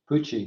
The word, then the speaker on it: Pucci: Is that how you say that? Yeah, Pucci. Pucci? Well, the other alternative I wasn't going to say out loud. So, It's a hard C.